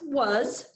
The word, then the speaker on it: was: okay so it's pronounced was the word is actually pronounced like w-u-z i was happy i'm